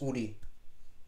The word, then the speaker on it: Ourii: name for emis is Ury o u r i i what's actually pronounced Udi which means we also